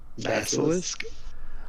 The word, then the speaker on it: Basilisk: Basilisk.